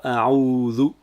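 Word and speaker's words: أعوذ: Ici, on a a'udhu, donc a, la lettre ain qui est écrite 3, et le ou qui est allongé. A'udhu.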